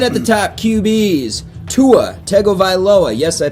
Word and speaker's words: Tua Tagovailoa: Tua Tagovailoa, yes, I pronounced that right.